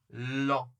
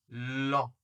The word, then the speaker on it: lent: Attention, encore une fois, on ne prononce pas le T ni le D.